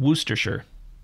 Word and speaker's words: Worcestershire: I think I may have said Evesham or Evesham, but it's Evesham and Worcestershire. Worcestershire. Oh, I thought it was like Worcestershire. Sauce. Well, Worcestershire sauce. Worcestershire sauce. Worcestershire sauce.